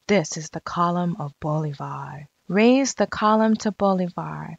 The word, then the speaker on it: Bolivar: a citizen Simone Boulevard bolivars name is pronounced Simone Bolivar the old fashioned English Way was to pronounce it boy a var as in the point above the precious jewel two boys were playing